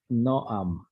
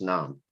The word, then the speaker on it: Nam: It's Noam. No, it isn't, actually. I was corrected by him. It's Nam. It's pronounced Nam.